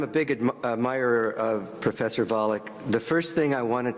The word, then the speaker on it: Volokh: Please say it in a way that rhymes with Pollock.